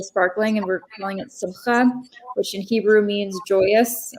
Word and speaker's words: simcha: The ch is like challah. You don't have to really pronounce like the ch part. Wow. But if you can do the ch thing, like, yeah, it's simcha.